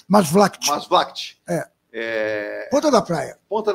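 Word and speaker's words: Maasvlakte: Como é que é a pronúncia? Masvlacht.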